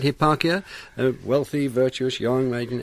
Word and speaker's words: Hipparchia: he was wooed by a virtuous maiden called Hipparchia. Is that how I pronounce it? That's right. That's yes. right, Hipparchia, a wealthy, virtuous young maiden.